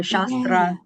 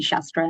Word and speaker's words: Shastra: So Shastra is how you pronounce my name, but only only my mom says that. So you can just call me Shastra and that's fine.